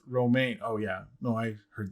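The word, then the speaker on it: Romijn: granddaughter cousin whatever and rebecca's last name is pronounced romaine oh yeah no i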